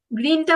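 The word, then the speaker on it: grün: কি বলবেন ইয়েস এখন গ্রিনটা বলুন তো ইয়া এটা কিন্তু উমলাউট আছে না এজন্য একটু উর মত করে বলবেন গ্রু এইভাবে ওকে গেল হ্যাঁ লাভ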